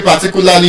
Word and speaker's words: particular: Now that I have told us that there's a schwa sound in the first, third, and last syllable, that means the stress cannot be in those syllables. And that's why you would observe that the way I pronounce the word, I'm stressing what syllable? The second syllable, T, particular. Because you cannot stress a syllable that has the schwa sound.